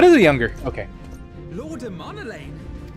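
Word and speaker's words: Emmanellain: Okay, Lord Emanolaine. I've been saying his name wrong. Ah, yes. Emanolaine de Fulton, at your service. I've been calling him Emanalian.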